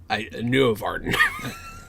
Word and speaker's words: Nuorvarden: I also said the name wrong because it's Nuorvarden.